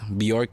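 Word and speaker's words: Björk: Country would be beer, and then like we just had like Bjork came for 3 days. Bjork, bro. I've said her name wrong.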